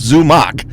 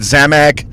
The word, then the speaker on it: Zumock: It's 2 syllables, Zumock. Yeah. You know, and I get Zamak, you name it, I get it all.